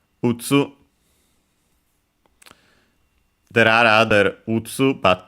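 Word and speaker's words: 打つ: We have its kunyomi, strictly Japanese reading, utsu.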